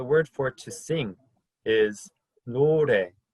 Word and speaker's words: 노래: I like to think of it as there's no ray of sun in the shower, which is where a lot of us do most of our singing, right?